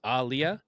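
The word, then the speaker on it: Aaliyah: pronouncing it like it's like Ali like Muhammad Ali so it's Aliyah but like a hard emphasis on the a but also I heard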